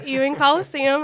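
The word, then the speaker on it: Fant-Ewing Coliseum: It'll be at Fant Ewing Coliseum. Is that how you say it? Yep. Fant Ewing Coliseum on ULM campus, and they do not have to apply for graduation.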